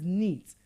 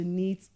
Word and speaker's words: knit: So we don't pronounce those words, or we don't pronounce clothes that are being knitted as neat. Because when you say, I want to knit my clothes, it's like you want to make your clothes neat. That's clean. But in the process whereby you're trying to make it sewn, then it is pronounced as what? Knit.